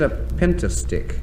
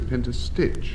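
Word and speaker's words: pentastich: Denis Norden, what is a pentastick? But it's spelt pentastitch. P-E-N-T-A-S-T-I-C-H. A pentastick. You said pentastitch.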